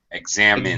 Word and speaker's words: examine: okay who examines you examine yeah examines you yeah it's min uh short eye sound examine second syllable stress yes of course that's